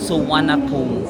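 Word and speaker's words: Suvarnabhumi: So dito tayo sa airport ng Suanapum. Parang iyung spelling niya is suvarnapumi pero you pronounce it as Suanapum airport.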